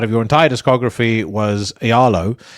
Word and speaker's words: Aealo: your entire discography was Aealo. Have I Oh, yeah. pronounced that correctly, by the way? Yes, very nice.